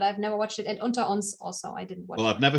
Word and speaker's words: Unter uns: Lindenstrasse or Unter uns?